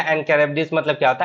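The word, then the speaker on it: Charybdis: शीला बोलते हैं और इसको क्या बोलते हैं? कैरबिडिस। ठीक है। कैरबिडिस। ठीक है। कैरबिडिस बोलते हैं इसको, और इसको बोलते हैं शीला। तो याद रखना, बिटवीन शीला एंड कैरबिडिस मतलब क्या होता है?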